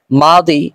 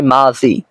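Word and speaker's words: ماضي: অনুযায়ী ঠিক আছে আর যদি আমরা বলি মাজি তাহলে এটা বাংলা অনুযায়ী ঠিক আছে কেননা দ্বারা উচ্চারণ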